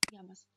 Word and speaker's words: llamas: «Como te llamas?» «Как тебя зовут?» Удвоенная буква L является отдельным буквом в испанском языке. И она читается как «эйе». «Эйе». Одинарная буква L читается как «эле», а удвоенная «эйе». И поэтому она всегда читается как «е» в слове «йогурт».